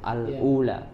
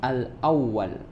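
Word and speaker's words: الأولى: di setelah huruf lam maka cara membacanya adalah Al Ula ketika menemui nantinya ke depan kalau ada bacaan seperti ini bacanya Al Ula kemudian berikutnya tadi di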